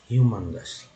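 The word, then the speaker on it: humongous: Next है ह्यूमंगस, यू, यहाँ पर ये यू है वो EU के रूप में इस्तेमाल हुआ, और यहाँ पर यू M के बाद जो यू है वो उसका उच्चारण अ के रूप में हुआ, तो ह्यूमंगस, ह्यूमंगस।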